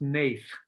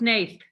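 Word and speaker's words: Hnath: image and that guy's name i swear is pronounced nath lucas nath yeah we we made sure we looked into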